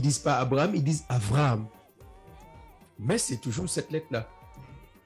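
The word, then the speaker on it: אַבְרָהָם: Le V qui est là, c'est un B qui se prononce V. Comme Abraham, ils ne disent pas Abraham, ils disent Avraham.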